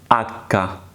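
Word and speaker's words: acca: not h in Italian language we call it akka akka and it is silent litter we do not pronounce it at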